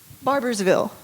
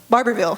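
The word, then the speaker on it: Barbourville: Barbersville. Barberville. It's not spelled the same.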